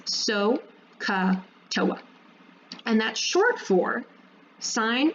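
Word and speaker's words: SOHCAHTOA: to remember this, and you'll hear people pronounce it as so-ka-toa.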